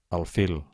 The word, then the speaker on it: alfil: Comencem per les agudes, intentem pronunciar-les. Un moment abans que ho digui jo. Xofer, oboè, alfil, zenit, futbol, el Tibet, els Carpats.